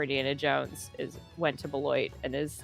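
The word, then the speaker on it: Beloit: Well, now you went to correct me if if I'm pronounc mispronouncing this, but Belwis Bloit.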